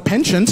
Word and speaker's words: penchant: yeah because i would i say it in the french way you know the way it's uh meant to be pronounced not how it's spelt